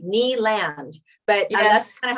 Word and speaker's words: Kneeland: So Dayna, some people would say Kneeland, but that's kind of how it's spelled. So that's like just so you have like daytime, and then Kneeland, like the land of knees.